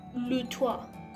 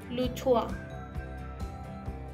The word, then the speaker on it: le toit: En francés, le toit. La T del final no se pronuncia. Nuevamente, le toit.